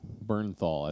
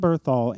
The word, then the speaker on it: Bernthal: His name is John Is it Bernthal? Bernthal, I think is the way they pronounce it. Yeah, John Bernthal.